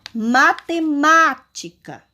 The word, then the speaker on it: matemática: Matemática. Vocês observam qual a sílaba mais forte dessa palavra? Foi a última? Foi a penúltima ou foi a antepenúltima?